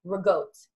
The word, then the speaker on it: ricotta: Okay, so I used to say ricotta. Actually, I still do because I don't like the way they say it. But they say rigote. That's how it's supposed to be pronounced.